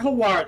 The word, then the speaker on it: Hawat: Thufir Hawat is definitely Hawat.